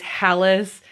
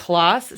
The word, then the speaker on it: Hallis: By the way, my last name, there's two ways to pronounce it. There's a Norwegian way and there is an American way. The American way is Hallis. The Norwegian way is Halas.